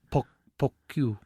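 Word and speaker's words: poque: know that no and it was called pocky it's spelt p-o-q-u-e and then it evolved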